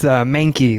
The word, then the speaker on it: Mankey: Yeah, it's Mankey, like the Pokemon, or rhymes with cranky, or however you want to go with it.